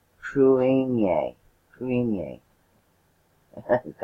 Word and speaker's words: Cruithne: called three seven five three and it's pronounced truing Yang Ming yang I think I have a weird word but that is how it's pronounced crewing a alright so Earth's other moon made through NEA